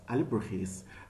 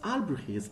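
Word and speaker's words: Alebrijes: Alibrujis, it has a Spanish pronunciation.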